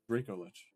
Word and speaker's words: Dracolich: How the fuck are you supposed to say it? Dracolich. Draco? Oh, okay. See, I'm thinking like draconic. But you're thinking like Draco, like Harry Potter.